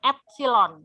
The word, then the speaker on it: epsilon: aljabar JBL nah ini ada yang tahu kalau membacanya apa ini Ini dibaca epsilon ya epsilon Nah jumlah GGL atau epsilon dan